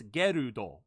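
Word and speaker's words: Gerudo: his name is gild or in Japanese it's gudo gudo g e r u d o so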